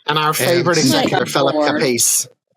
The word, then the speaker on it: Capice: I've heard somebody actually say his name is pronounced Capiche. Capiche? It might. But we say Caprice. It might. I say Caprice. I've never said Caprice. I've never said Caprice. There's no R, is there? So Capice. Yeah.